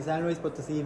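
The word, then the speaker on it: San Luis Potosí: Louis police but how do you say it photos in San Luis Potosi Mexico San Luis Potosi Mexico how you doing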